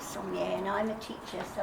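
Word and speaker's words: Somlay: and he's Hungarian, and you notice it's spelled S-O-M-L-A-Y. He pronounces it Sommier. But for New Zealanders, we use Sommier, and I'm a teacher, so I have to have a name that can be pronounced.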